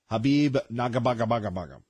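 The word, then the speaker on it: Khabib Nurmagomedov: It is hard to believe it's been 25 years, but you had Conor McGregor against Habib Nurmagomedov. Just for instance, that's how you pronounce his last name.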